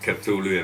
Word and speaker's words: Cthulu: by cthulu mods that's the name of it cthulu and that's how we pronounce it the name cthulu is actually a